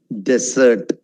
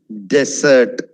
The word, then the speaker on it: dessert: differential faster sweet number four one mariboomi desert dessert okay see the difference write it down very